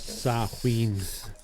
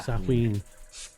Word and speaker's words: Samhain: It's actually pronounced Samhain or Samhain.